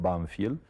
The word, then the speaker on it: Banfield: que en la Argentina el pueblo se llamaba nosotros lo pronunciamos banfiel y es un pueblecito